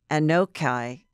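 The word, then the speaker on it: Anok Yai: How do you pronounce her name? Anokai. Uh-huh. Anokai.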